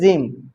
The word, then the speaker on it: gym: की गेम, ये जिम लिखा है, जिम का स्पेलिंग ऐसे होता है GYM, ये है जिम।